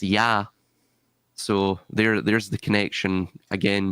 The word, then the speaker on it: Ea: Ea, Lord of the Earth. It was probably pronounced Ya.